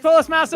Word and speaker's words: Polis Masa: It is Polis Masa.